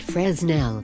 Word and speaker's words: Fresnel: big area a fresno lantern pronounced fresnel is a common lantern used